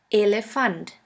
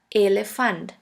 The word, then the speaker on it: Elefant: E, which is pronounced like the E in the word 10. The German word with the letter E is Elefant. Elefant, which means elephant.